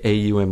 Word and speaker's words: Om: om om yeah and it's pronounced like AUM like om like that so it's oh but you could just do om it doesn't matter like